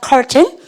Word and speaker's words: carton: C-A-R-T-O-N 발음하니까 curtain.